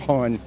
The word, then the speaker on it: hon: Balmer, Maryland, hon. And how do you say hunt? It's like honey, but you leave off the EY at the end, so it just hon.